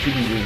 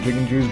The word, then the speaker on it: Jigenju: And all the Jigenjus ran away for some reason. I'm gonna call them Jigenjus. Jigenju is how you properly pronounce it, but I'm gonna call them Jigenjus because, instead of Jigenju,